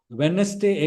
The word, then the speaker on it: Wednesday: Wednesday. Again D is a silent letter.